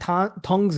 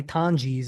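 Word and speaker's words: Tonges: And that ton tongs guy, Tanis is actually how you say it.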